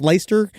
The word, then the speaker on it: Leicester: premiere he did in Leicester, I think it's Leicester Square. Is that how you pronounce Leicester?